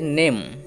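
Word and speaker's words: name: যেটি দেওয়া আছে যে এন এম দেওয়া আছে নেম এর উচ্চারণটা ভালো করে তাকাও এই যে এন দেওয়া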